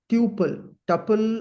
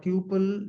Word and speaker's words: tuple: We call them as tuple, or tuple. Generally, people pronounce this.